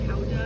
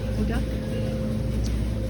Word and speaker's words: Gouda: Gouda, say Houda, that's how they say it. Houda.